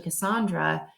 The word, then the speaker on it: Cassandra: for them and so anytime I've corrected them and said no it's actually Cassandra they have momentary issues